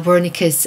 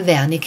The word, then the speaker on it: Wernicke: we're going to uh wernicke's aphasia a german physician by the name of carl vernick and you guys can pronounce this however you want most americans pronounce it wernicke so calvanika worked only 10 years